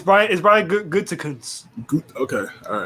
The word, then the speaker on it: Gutekunst: Gutenhuis, is that his last name? Gutengoose? Gutenhuis? I got it's idea. Brian Good. No, it's Brian Gutekunst.